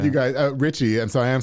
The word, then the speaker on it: RXCHY: right okay so like I said you guys Richie so I am saying it right I'm not